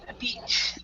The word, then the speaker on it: beach: repeat yeah beach beach so say eat eat beach beach beach beach yeah e e and and you're kind your your your mouth is kind of like um you're smiling let me let me get on on camera and show you guys um your mouth is like this beach beach so all right